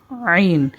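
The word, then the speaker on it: ع: উচ্চারণ করার চেষ্টা করি আইন গলার মধ্যে একটু নিচে বুকের দিকে যে জায়গাটির মধ্যে আমাদের সকলের একটু ছিদ্রের মত থাকে একটু জায়গাটা নিচু থাকে সেই জায়গাটার মধ্যে আমরা আঙ্গুল দিয়ে উচ্চারণ করার চেষ্টা করি আইন আইন এরপরে হরফটি হচ্ছে গাইন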